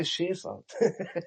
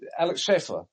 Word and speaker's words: Alex Schaefer: Am I pronouncing it right? Yes. I was I would say Shaer my German background. Alex Schaefer.